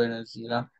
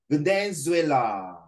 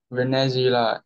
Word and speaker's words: Venezuela: Thirdly, I would also like to go to Venezuela. No, it's pronounced as Venezuela. Venezuela, as it is where the biggest waterfall is located.